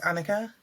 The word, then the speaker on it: Anyika: how it's spelled and I'm like yeah it's Annika and they're like okay